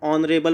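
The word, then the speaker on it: honorable: Start होते हैं, लेकिन इन सभी का जो एच है ये क्या है, साइलेंट है। एच क्या है, साइलेंट है। हम हॉर नहीं पढ़ते हैं, हम और पढ़ते हैं, हम ऑनरेबल पढ़ते हैं, हम ऑनेस्ट पढ़ते हैं।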